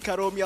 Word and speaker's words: Karomi: my name is karomi you can call me your friend you can call me your homie mainly because homie rhymes with karomi i'll get you into